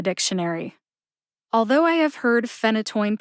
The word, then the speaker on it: phenytoin: is my hope that pairing isotretinoin with phenytoin will help you feel more confident with both pronunciations because if you can say isotretinoin you can say phenytoin the written pronunciation of